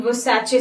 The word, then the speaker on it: Versace: And the right pronunciation is Versace. Yeah. Actually, I'm interested in buying Versace suit, which is actually very, very beautiful.